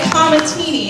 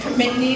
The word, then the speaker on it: Comatini: Brody Comatini, and just before I say this for him, Brody let me say his name wrong for 3/4 of the year and never said a word. I was saying Comitney the entire year, and then I heard